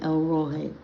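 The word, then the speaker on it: El Roi: It's E L R O I. You could say Elroy, but it's really supposed to be pronounced El Roy.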